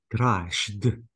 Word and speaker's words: crashed: Crashed. The E sound is not pronounced.